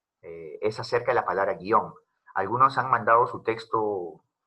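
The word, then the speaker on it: guion: dicen es profesor pero la palabra guión es que usted dice que no se tira porque es un monosílabo pero yo lo pronunció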